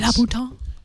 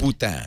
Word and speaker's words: Louboutin: La Bouton. La Bouton. La Bouton. Let's do the internet pronounce guide. Louboutin.